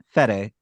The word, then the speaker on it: Fede: Freddy Alvarez. There we go. Say his name again. The first name. What? Freddy? It's Fede.